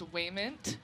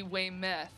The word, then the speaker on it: Wayment: butchered your name okay he doesn't know my last names waymond he calls me way mess call me and